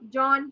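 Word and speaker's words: jaune: ठीक है, ज य की साउंड नहीं करेगा. दिस इज ज. Yawn. हाँ, जॉन टाइप्स.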